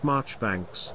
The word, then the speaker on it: Marjoribanks: transforming into Marjorie Banks the name pronounced marchbanks carries a unique charm